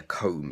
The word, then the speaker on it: comb: the noun as well the thing is called a comb not comb but it's coma okay so a silent B and the final example